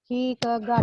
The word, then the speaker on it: Kierkegaard: dekat terpisahnya desa kecil bacanya dekat high keget bacanya ya cikego Coba ulangi kicot hayati Tegar Descartes ceritanya bacanya